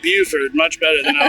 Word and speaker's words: Beaufort: to bford no but so far I like Buford much better than I like bford it's pretty